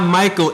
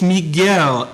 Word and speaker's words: Miguel: wine you chatting with my name's not Michael it's Miguel m i guu e l pronounce it right or we can take